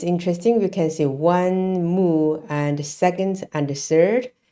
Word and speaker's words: 木: then we have the present one it is pronounced Mo moo so this moo is a independent character it